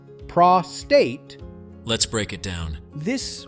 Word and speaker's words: prostate: Prostate. Let's break it down. This word is often said wrong. The correct way is prostate. Start with pra, short and clear, then finish with state.